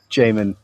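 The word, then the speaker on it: Jamin: or Jam Jamon it's everyone gets it wrong. It's all good. So Jamon J A M I N.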